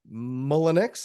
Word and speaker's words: Mullenix: If you are new here, I am actually joined with a special guest today, Miss Ashely Mullenix.